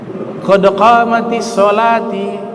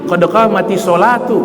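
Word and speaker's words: قد قامت الصلاة: Qad qamatis sholati, qad qamatis sholati. Wah, salah itu. Bacanya tidak benar itu. Itu kan fa'il. Qad qamatis sholatu, bukan sholati.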